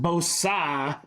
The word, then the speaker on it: Bosa: And it's pronounced Bosa.